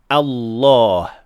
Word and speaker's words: Allah: Finally, another very common mistake is pronouncing the heavy lamb in the best name improperly, not fully heavy or fully light. Normally, when we say the best name, we say Allah.